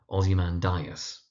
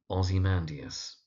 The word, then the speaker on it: Ozymandias: Now the mispronunciation that you often find is someone calling it Ozymandias, Ozymandias, or very occasionally Ozymandias. But the poem's name is Ozymandias.